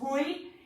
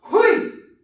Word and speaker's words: hui: So this hui, it's spelled like H-O-I. Hui.